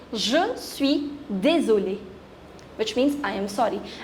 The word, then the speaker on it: désolé: I am female, so I'll say je suis vraiment désolé. If a male will say, he will say je suis vraiment désolé. Pronunciation is same. The difference is in writing.